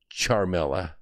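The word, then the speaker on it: Ciaramella: Okay, it's Charmella, but it's spelled CIA Ramella.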